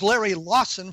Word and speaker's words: Lawson: My guest, Larry Lawson, was so annoyed that I mispronounced his name, he hung up on me. No, it is Larry Lawson, for those of you who are keeping score at home.